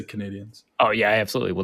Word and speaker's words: Canadiens: to name its hockey team the Canadians or Canadiens? How am I supposed to pronounce that? Well, Canadian ends with the E is just a French pronunciation, so it's like Canadien, but we just say Canadians.